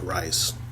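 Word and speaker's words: Reiz: I know they have the issue that this meeting takes place, but the shadow king is inhabiting a man's body named Jacob Rice. It's spelled R E I Z.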